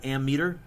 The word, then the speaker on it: ammeter: measured using a meters I don't know why it's not amp meters but the P is not pronounced not even written so you measure amps with an ammeter and you measure volts